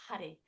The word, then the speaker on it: Har: Okay, so Hari, it's spelt H-A-R, Har. And there's a bit of a flick of the tongue as you pronounce it on the roof of the mouth to make that sound,